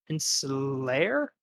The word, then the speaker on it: insular: It was also why Luminous preferred a policy of insular government, locking herself inside the inner cloister.